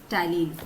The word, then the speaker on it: ptyalin: What it does it secretes ptyalin. Okay, secretes ptyalin. Here P is silent.